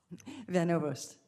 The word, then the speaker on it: Van Ovost: General Van Ovost, is that how you say it? Van Ovost. Okay, I'm sorry, we don't pronounce that often from Oklahoma.